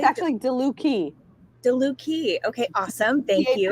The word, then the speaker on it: DeLucchi: actually DeLucchi. DeLucchi. Okay, awesome. Thank you. CHI in Italian has a hard C. If there was no H, it would be chi.